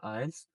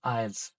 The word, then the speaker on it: IELTS: I'm going to talk all about the IELTS.